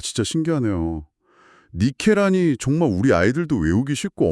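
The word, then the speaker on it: νίκη: 거기서 이긴다라는 단어가 니케라고 하더라고요. 저기 우리가 너무너무 잘 아는 그 유명한 스포츠 신발 브랜드 이름이랑 똑같은 발음 맞죠?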